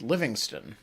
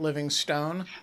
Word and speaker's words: Livingston: Am I correct that it is Livingston, not Livingstone? You are correct, Ben.